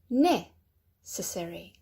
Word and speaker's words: necessary: And then necessary. Necessary. All right, so right at the beginning for that one.